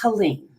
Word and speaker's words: Helene: And it's Helene.